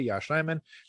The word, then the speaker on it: Yosh Nijman: I felt like his name kind of like people started to say it more regularly, like correctly, Yosh Nijman.